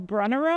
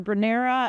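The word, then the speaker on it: Brunnera: Down below, we have some of the beautiful brunner or branera. Again, um, doesn't matter how you say it.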